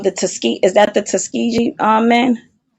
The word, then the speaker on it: Tuskegee: Um the Tuske is that the Tuskegee um men.